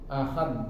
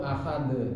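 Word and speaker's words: أحد: Ahad. Nah, itu yang salah. Coba yang kedua. Ahad. Nah, itu yang betul. Itu yang betul yang kedua manusia.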